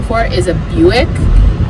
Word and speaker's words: Buick: name for is a buick but it's spelled just like quick and they don't rhyme and i've always thought